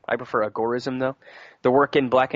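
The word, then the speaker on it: agorism: gore-ism or some people boys or some people pronounce an agar ism I prefer a gore-ism though the work in black and gray markets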